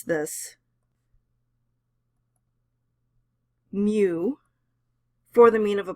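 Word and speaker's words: μ: u with a tail on it and we pronounce this mu for the mean of a population so this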